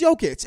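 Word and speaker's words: Jokić: he's been a two-time mvp it's jokic man it's jokic it's yokets it's like the giannis out to the kumpo thing you have to we have to learn how to pronounce this it's not even a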